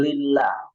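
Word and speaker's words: لله: Kalau fathah atau dhammah, maka itu dibaca tebal ya, seperti Allah. Allah. Beda dengan lillah. Lillah itu dibacanya tipis. Kenapa? Sebelumnya ada kasroh.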